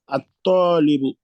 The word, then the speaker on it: الطالب: At-talibu.